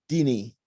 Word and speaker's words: Ndini: It is spelled Ndini, but it's not pronounced with the N. It's just Dini.